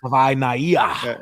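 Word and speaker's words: Savaiinaea: Jonah Svainaya. Yeah. Okay. Hey, thank you for pronouncing it.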